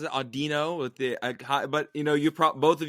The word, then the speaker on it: Audino: Like, this is, Audino. I thought it was Audino, like audio. I've always pronounced it Audino with the, but both of you know sound better than I do.